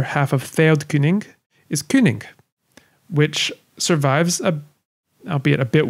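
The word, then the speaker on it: cyning: as our word king that letter y by the way represents the e sound as in german uber or french lin the word kining is related to the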